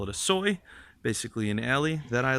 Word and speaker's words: soi: All right, so then back this way is we call it a soi, basically an alley that I live on, and that's spelled S-O-I, not S-O-Y, like the meat substitute.